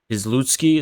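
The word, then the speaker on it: Piłsudski: of crypto fascist dictator from the 1930s uh izlutsky is how you say his name yeah and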